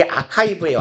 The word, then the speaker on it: archive: 되게 archive처럼 생겼죠? 얘 아카이브예요, 아카이브. 발음.